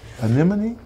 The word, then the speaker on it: anemone: to say this you can't even say anemone anemone that's right right and then and then anemone